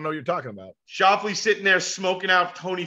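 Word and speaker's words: Schauffele: Shoffley.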